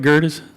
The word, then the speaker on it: Gerdes: bit more like Nick Gerdes. Did I say it right, Gerdes?